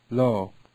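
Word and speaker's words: לו: Lo. Lo. Okay, they're both pronounced lo, but if I right-click on them, one means no or not, and the other means to him.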